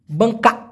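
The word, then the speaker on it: bengkak: সেক্ষেত্রে হবে কি বঙ্কা বানানটা দিয়ে দেই বং কাক বাঙ্কা এই ক টা জোরে বলার দরকার নাই বঙ্কা বঙ্কা মানে ওরকম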